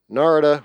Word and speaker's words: Narada: Narada rhymes with Florida.